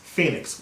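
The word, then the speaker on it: Fenix: And they didn't spell it like Phoenix, you know, like the Phoenix Suns or Phoenix, Arizona. They called it F-E-N-I-X, Phoenix, which I'm sure is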